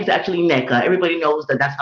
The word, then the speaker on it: Nneka: herself NECA or whatever her name is actually NECA everybody knows that that's how to pronounce the name so I don't know what